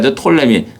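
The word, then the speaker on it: Ptolemy: 이 때는 프톨레미 어떤 사람은 이 푼 헌데 묵음 이라 하여 톨레미 살 짱 대 살 짱 게 푸는 악한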